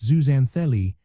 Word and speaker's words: zooxanthellae: The secret lies with tiny single-sellled algae called zuanthelli, pronounced zuzanthelli, that live within the coral polyp.